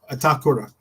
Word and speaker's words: Itakura: no kakur kakur I think that's how I pronounce itakura itur that's how you say it I had